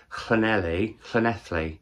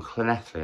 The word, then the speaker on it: Llanelli: Penultimately, I read Local Fires by Joshua Jones, a short story collection set in one town in Llanelli. I always say it wrong. Llanelli, I think, is right.